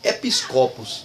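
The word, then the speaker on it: ἐπίσκοπος: Então, bispo em grego significa episcopos, né? Talvez até você ache engraçado essa pronúncia, né? Episcopos, né? Parece que você está falando de um copo, né?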